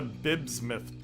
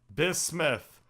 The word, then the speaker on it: bismuth: So, where do we get a bibsmith bomb? I guess I mispronounced it. Bismuth.